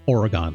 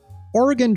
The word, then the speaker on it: Oregon: I said Oregon, like oregano. Thank you, Marge Simpson, but that's not how that's pronounced. Oregon Trail.